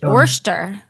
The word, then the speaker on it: Worcester: to it what's that how do you say it Worcester no Worcester Massachusetts Worcester yeah wor sauce wor sauce a that's a different spelling Worster wor Worster w o r c sell it's a